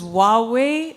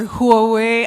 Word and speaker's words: Huawei: over now to our next stand which is Huawei or Huawei I think Huawei is the correct way to pronounce it but I don't want to preempt